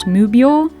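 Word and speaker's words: 無病: The kanji here, meaning six cats, is pronounced mubyo, which is the same pronunciation of these kanji, which means no sickness.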